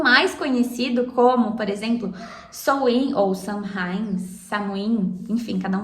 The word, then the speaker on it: Samhain: das Bruxas, ou Halloween, que algumas pessoas chamam de Samhain, Samhain, sabe? Samhain. Cada um vai pronunciar de um jeito.